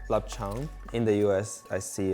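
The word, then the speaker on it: 臘腸: So in Cantonese, it's pronounced lapchang.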